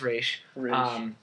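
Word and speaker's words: Ra's: League of Shadows and Raz, however you want to pronounce it. There's no hatred here, but it is Raish.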